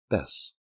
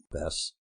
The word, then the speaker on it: Bess: “Bess,” she answered. “Bess; great; sounds like a sport. Not hard to say and rhymes with ‘bless’ and ‘yes’ and a lot of other words.